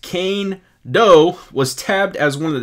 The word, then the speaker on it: Kaindoh: player bio right now so kando pronounced kane doe was tabbed as one